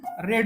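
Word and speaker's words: read: परंतु ज्यावेळेस तो पास्ट मध्ये ज्यावेळेस त्याचा आपण रेड म्हणतो आर एडी जे असत त्याचा आपण उच्चार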